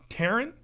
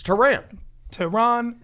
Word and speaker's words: Tehran: As long as it's not Tehran, I'm happy. It's Tehran. Tehran. In that mode of, I was named after the capital of Iran. I've heard of that place. Yeah. Tehran, Iran.